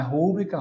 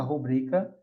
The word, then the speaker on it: rubrica: Não é púdico, é pudico. Não é rúbrica, rubrica.